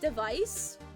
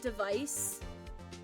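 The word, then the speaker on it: DEV_IS: they're part of what I think it's pronounced device it's d v i s but I think it's pronounced device um so they're like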